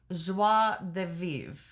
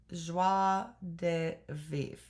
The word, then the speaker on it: joie de vivre: The French General line is pronounced joie de vivre. Joie de vivre.